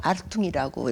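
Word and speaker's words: Hartung: 하지만 나중에 파리에서 정착을 해서 이제 프랑스 사람으로서 아르퉁이라고 이렇게 발음을 하는데, 여러분들 보시다시피 수직선으로밖에 작품이 안 돼 있어요.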